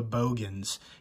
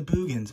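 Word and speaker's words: Boogens: And I remember saying The Bogans and somebody was like arguing with me. It's The Boogans. Obviously it's spelled Boogans, but that guy in the movie said Bogans. So that's what I'm going to say.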